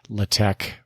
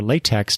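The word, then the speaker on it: LaTeX: uh content Management Systems latch or latch or latek depending on how you pronounce that hit me up maybe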